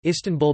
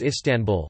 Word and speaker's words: İstanbul: As the Turkish alphabet distinguishes between a dotted and dotless I in English, the stress is on the first or last syllable, but in Turkish it is on the second syllable, tan.